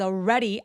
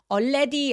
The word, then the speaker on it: already: I was already out of breath. I was already out of breath. Already 아니에요. Already 아니고 already. 알로 시작하는 발음들은 입술 쭉 내밀어서 already. 해 주시고요.